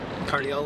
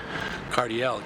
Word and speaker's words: Cardiel: You know, that's how you mean like if you say it Cardio ledge, it's like you don't say it like Josh Kais ledge. No, you don't say that. You say Cardiell.